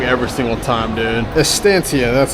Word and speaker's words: Estancia: Dude, I say the name wrong every single time, dude. Estancia, that's how it is.